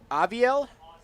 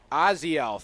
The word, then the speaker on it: Oziel: What was that? Aviel? Oziel, thank you.